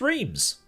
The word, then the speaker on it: Reims: Okay, let's find out how this place is actually pronounced. Well, what do you know? I was right all along. It's Reims.